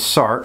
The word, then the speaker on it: Sartre: ways of saying it one of them is Sartre like he just dropped the re off the